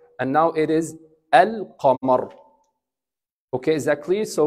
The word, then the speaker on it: القمر: And that's why we brought this alif to make it easy to pronounce it. And now it is al-qamar.